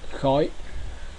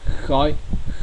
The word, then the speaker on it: khói: The next consonant cluster is the H. It doesn't have an equivalent sounds in English. Example in Vietnamese is khói. Again is khói.